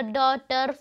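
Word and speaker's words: daughter: अब आपको क्या करना है, यहाँ पे वर्ड बताना है के, यहाँ पे के जो है वो साइलेंट होता है। अब देखो इसमें नेबर, डॉटर, फाइट, स्ट्रेट, इसमें क्या हो रहा है कि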